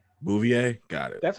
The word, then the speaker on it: Bouvier: who might also be curious how do you pronounce a gar sells last name Bouvier got it that's how you say it okay